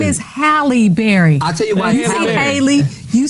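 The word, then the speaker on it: Halle Berry: to say This Woman's name her name is halberry I tell you haly you said something no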